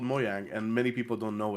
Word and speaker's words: Mojang: say yeah I work in this company called moyang and many people don't know it even if